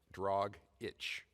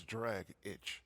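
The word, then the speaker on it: Dragić: a lot I agree I always thought it was tragic had dragic like drag it was d-r-a-g-i-c that's drag itch yeah or dragic as you called him no I called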